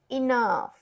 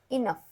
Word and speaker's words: enough: silent है, would, B, enough, ये एक थोड़ी सी डिफिकल्ट स्पेलिंग है आपके लिए, इन, O-U silent, G silent, H-B silent, यहाँ पे F डाला गया है जो कि स्पेलिंग में कहीं नहीं है, इनफ, ये स्पेलिंग आपको याद रखनी है तभी आप समझेंगे कि इसे इनफ बोलना है, theirs, T-H-E-R-E, एस, एस